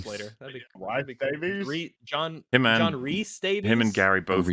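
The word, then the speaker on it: Rhys: it both ways so but Reese is definitively Reese. It's a Yes. John Reese Davies Gimly don't worry you will forget and you'll instinctually call him Rise and it's okay.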